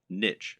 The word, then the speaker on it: niche: correct internet business parlance what is your niche or niche as some people pronounce it a niche is a